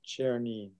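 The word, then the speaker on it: Czernin: The guy whose name is spelled C-Z-E-R-N-I-N is Chernin.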